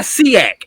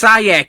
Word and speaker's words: SIAC: It's not SEAC. It's SIAC if you want to shorten it. Not SEAC.